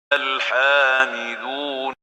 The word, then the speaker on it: الحامدون: الحامدون. الحامدون. So the ha is attenuated, حامدون, and not حامدون.